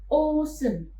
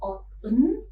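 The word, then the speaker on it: 옷은: berpindah ke initial positions, maka pada saat kita melafalkan kata ini, dilafalkannya menjadi osen. Karena konsonan siot di bacim berpindah ke initial positions, maka pelafalannya bukan lagi oten, melainkan menjadi osen.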